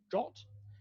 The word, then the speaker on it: JWT: So JSON Web Tokens, or JWT, pronounced JOT, they're a mechanism for associating some number of claims with a REST endpoint.